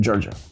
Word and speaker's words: Georghiou: City and Inside Man where we met Georgio thank you Hi how are you was it correct it was all correct yes and you pronounced it correctly as well Georgia nice all right thank you for being here